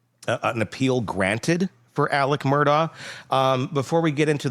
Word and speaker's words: Murdaugh: It's Murdoch. They were saying like Murdoch. Yeah. And and Alec does too. Alec hits the K in there. Murdoch.